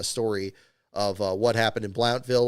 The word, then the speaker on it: Blountville: Part two was definitely some tough sledding there for sure to cover the story of what happened in Blountville, or again, Bluntville, the proper pronunciation.